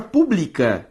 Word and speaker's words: pública: A palavra pública e a palavra pública, ambas existem na língua portuguesa e se diferenciam como? Pela sílaba tônica. Publica, paroxítona. Pública, proparoxítona.